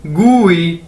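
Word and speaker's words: 贵: अगर इसके साथ आई लग गया तो इसे हम कैसे पढ़ेंगे, गू ई, ठीक है, जी वाई गू ई, गू ई, ई नहीं, एग्जैक्ट ई नहीं कहना, गू ई, गू ई, ठीक है।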